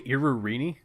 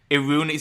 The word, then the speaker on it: Iruini: Did you So- say Irurini? Yeah, that's how it's spelled. Leo, it's you might know Iruni. this. Iruni, so it's a silent I.